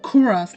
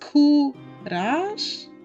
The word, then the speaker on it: Kuras: So like his name is not Kuras like I used to say it, but it's, oh my god, what is his name again? Okay, it's pronounced Kurash, because it's the last part rhymes with mush.